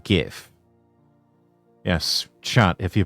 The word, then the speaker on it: GIF: It's pronounced GIF. Yes, chat. If you pronounce it GIF, it's that's um you're doing it wrong.